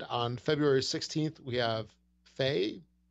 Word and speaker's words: Fe: And on February 16th, we have Faye. Faye, F-E is the name. Faya. And it's actually, what? I found out it's actually pronounced Faya.